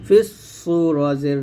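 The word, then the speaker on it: في الصور: ফাকে সদকে ধরতে হবে, ফা সদ জের ফিস, সদ ওয়াও পেশ সু, ফিস সু রজের রি, ফিস সুরি। ইয়াউমা ইউনফাখু ফিস সুরি, ইয়াউমা ইউনফাখু ফিস সুরি।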